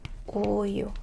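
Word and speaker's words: 우유: If you connect these two syllables together, you take the word for milk. Uyu.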